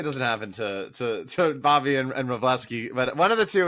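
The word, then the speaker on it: Wrobleski: I think it's Robleski. Robleski, Game 3 starter in the playoffs. That's silent W.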